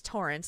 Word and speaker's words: Torren: so the um the the male version of it is Torrance like spelled like torren but it's Torrance like the name so that's the that's